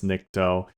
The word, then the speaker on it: Nikto: because, like I said, Ash in the movie kind of coughs out the final word in order to get around pronouncing the whole thing correctly. But as we know by now, it's Nikto.